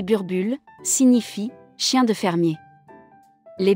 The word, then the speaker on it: Boerboel: même joué un rôle le number ball prononcé burbure signifie chien de fermer